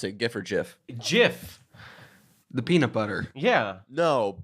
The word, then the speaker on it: Jif: you like for peanut butter cuz I'm a jiff man gif okay but seriously how do you pronounce it gifford jiff jiff the peanut butter ya know but the thing